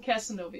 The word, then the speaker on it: Casanova: Did I say it right? Because I know I murdered that town name even when we read it. Casanova? Casanova, yes.